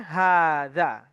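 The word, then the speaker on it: هذا: Nah, tetap dibacanya hadza.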